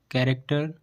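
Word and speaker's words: character: तो हमें सी एच को का से पढ़ना है। जैसे कैरेक्टर करिश्मा।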